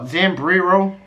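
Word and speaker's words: Zambrero: gonna be good I'm not gonna lie Samri Samri row yeah that's how you say it Sam B's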